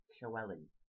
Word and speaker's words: Llewellyn: um do a short video about how to pronounce the Welsh name Chelli um I've just said it so the first